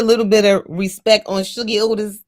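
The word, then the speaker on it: Shuggie: His name's Sugi Otis. That's first of all, right? Let's just exactly and exactly how it sounds is how it's spelled. S H U G G I E.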